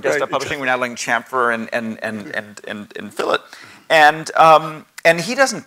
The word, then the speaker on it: chamfer: When I look at my 11-year-old doing CAD, and you know he's learning words like chamfer. Am I even pronouncing that right? Yeah. Chamfer.